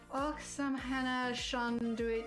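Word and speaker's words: Oíche Shamhna shona duit: Oksam Hannah Shanduit is Irish for Happy Halloween to you. Pronounced Iha Hauna Huna.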